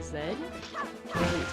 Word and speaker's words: Z: Remember fifth grade fifth grade kids sang the Z in Dragon Ball Z stood for zed years later that's how just how Canadians and British pronounce the letter Z.